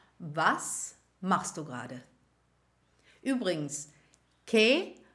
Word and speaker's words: qué: Übrigens, que mit Akzent wird genauso ausgesprochen wie que ohne Akzent.